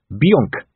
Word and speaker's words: Bonk: there's a place called Bonk said vimes still marveling at the speed with which they've got here from a damp letter about dogs strictly speaking sir it's more correctly pronounced Bianca said carrot even so and